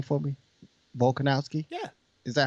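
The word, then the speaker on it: Volkanovski: oh sorry sorry say his name for me volkonowski yeah is that how you say yeah you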